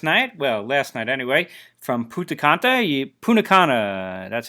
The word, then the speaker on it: Punta Cana: I got home late last night, last night anyway, from Punta Cana, that's how you say it, Dominican Republic.